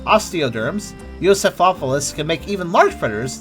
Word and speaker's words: Euoplocephalus: Alright, now let's see how we actually pronounce that dinosaur's name. Well-armed head. Euoplocephalus.